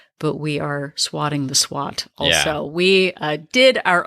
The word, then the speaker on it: SWOT: way we pronounce it, it's not SWAT like the police. It's not S.W.O.T, or it's not like SWAT like you swat a fly or something. It is S.W.O.T.